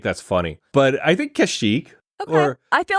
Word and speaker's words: Kashyyyk: They are native to Kashyyyk, which I hope I'm pronouncing correctly.